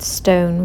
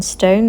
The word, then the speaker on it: Ston: a place called Stone I think it's pronounced Stone rather than Stone there's no e on the end and this is just